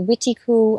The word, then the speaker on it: Wendigo: That word is sometimes pronounced Wendigo, Wendigo. I've heard it Wendigo, Witiku.